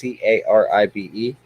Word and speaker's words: Caribe: They are Caribe piranha, or some people pronounce it Caribe. It's Caribe. They are in the Pygocentris family, along with red bellies.